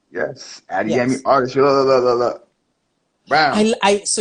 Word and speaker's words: Adeyemi: I want to talk a little bit about Adeyemi Artistry. Did I pronounce it correctly? Yes. Adeyemi Yes.